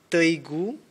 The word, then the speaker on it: Teigu: Oh, But if you use my names, you can say Teigu, Teigu yeah. Teigu. How do you spell that?